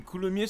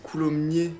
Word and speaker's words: Coulommiers: région de coulomier ah ça s'écrit avec un S ouais je savais mais il y a une dinguerie genre c'est mn c'est coulomnier non il y a pas